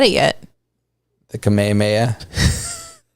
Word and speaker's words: Kamehameha: i was like um that's not how you say it dude he's like that's how you say it and i'm like i don't think you're right and i was like it's the kamehameha and he was like